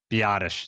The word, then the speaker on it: Biadasz: Biadasz.